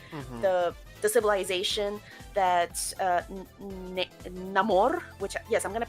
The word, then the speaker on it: Namor: in Mayan because the the civilization that uh namore which yes I'm going to pronounce it that way because that's how he pronounces it namore um is very Maya inspired it's like the